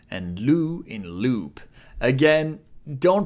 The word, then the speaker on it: ろ: Do is pronounced like a combination of ro in road and lo in load. In British English, it's more like ro in rot or lo in long.